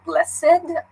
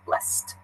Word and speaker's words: blessed: when I say it blessed it sounds like a little bit of a T sound nah bless it I suppose some people would say blessed but I'd I get the feeling the most common pronunciation is with this T blessed so when you talk